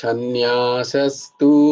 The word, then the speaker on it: সন্ন্যাসস্তু: তো সন্ন্যাসস্তু মহাবাহু, এই দন্তস্ব তালবস্য হবে না কিন্তু। ভালো শুনতে লাগে তালবস্য, কিন্তু ভুল উচ্চারণ হয়ে যাবে। দন্তস্ব কিন্তু দন্তস্বয়ের মতোই উচ্চারণ করতে হবে।